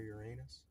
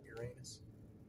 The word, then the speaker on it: Uranus: You got Klingons near Uranus. You never heard that joke? No. You know, the planet Uranus? It's actually pronounced Uranus, but, you know. Yeah, the way you were saying it, Uranus instead of Uranus.